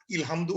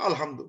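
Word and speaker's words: الحمد: শুরু করব, যেটা আলহামদু, ইলহামদু হবে না, উলহামদু হবে না, ইট হ্যাজ টু বি আলহামদু, যেটা আমরা জানি আলিফ লাম দিয়ে আল উচ্চারণ হয়।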